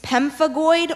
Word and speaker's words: pemphigoid: why idiocracy that's correct pemphigoid pemphigoid can have the language of origin pemphigoid comes from Greek can are there any alternate pronunciations it can be it's very slight its pemphigoid or pemphigoid can I have the